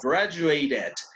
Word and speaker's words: graduated: Y solo en este de aquí sí pronuncio la E, graduated, graduated. ¿Por qué en este sí pronuncié la E? Porque estaba una T antes de...